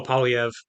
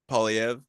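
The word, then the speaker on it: Poilievre: Oh, Polyv. Polyv.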